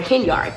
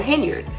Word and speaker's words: Henyard: who are close to her don't call her Hind they call her henyard because that's how people pronounce her name that are close to her